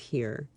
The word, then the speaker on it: hir: and here which is spelled hir and pronounced here and those are pronouns